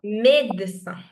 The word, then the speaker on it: médecin: Now the médecin, first E has this accent, which is why the sound A. But the second E does not have the accent. If the second E had an accent, the pronunciation would be médecin. Understood? Médecin. If the other E also had the accent. But since it's not there, so we'll pronounce it médecin.